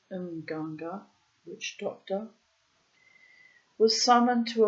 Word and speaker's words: Mganga: The Mganga witch doctor, this probably should be pronounced Mganga witch doctor, was summoned to apply the usual ordeal.